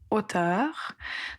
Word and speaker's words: auteur: Faites attention à la prononciation du mot hauteur. Donc à la fin, il faut prononcer la lettre R. même si ce n'est pas souvent le cas de prononcer des consonnes finales dans cet exemple et en général pour les mots qui se terminent par e ur, on va prononcer le ruteur.